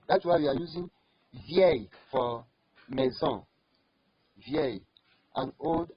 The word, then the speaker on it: vieille: If it is female, you are using for a feminine word now, you use vieille. Vieille. As I'm pronouncing it, say it with me.